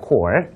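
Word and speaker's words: corps: 합니다 사단은 디 군단요 발음 조심하셔야 되죠 스가 아니에요라고 합니다 core 그래서 예를 들면 뭐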